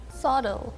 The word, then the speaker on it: subtle: Subtle.